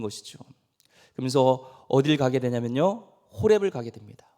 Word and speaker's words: 호렙: 호렙이가 아니라 호렙입니다.